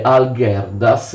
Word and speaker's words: Algirdas: che si chiama Algirdas, così si scrive Algirdas, si legge Algirdas, si chiama anche Olgierd in Lituania.